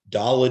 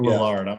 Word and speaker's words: Lillard: there side by side with with uh dame dalla dame whatever yeah actually yeah sorry for i hey sorry to the lard family for the mispronunciation dame lillard i'm sorry i i've been i i've played